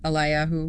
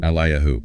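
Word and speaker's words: אליהו: It's pronounced Yehezkiyahu in Hebrew. Yehezkiyahu. Or Elijah, Eliyahu. Eliyahu.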